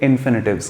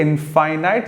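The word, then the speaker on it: infinite: है, जहां पर के इनफाइनाइट जैसा कोई शब्द हम लोग इस्तेमाल करते हैं। हाँ वही, बट माफ कीजिएगा, उसका प्रोनाउंसिएशन इनफाइनाइट नहीं होता, उसे इन्फिनिट कहा जाता है।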